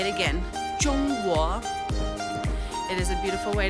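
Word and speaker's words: 中国: And Joel asks, how do you pronounce China in Chinese? What a great question. We would say Zhongguo.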